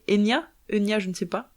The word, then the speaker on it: Enia: C'est à l'italienne, je pense que ça se prononce David. David ou David Enia.